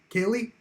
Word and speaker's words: Hallee: Hallee, I believe is actually how you pronounce the name.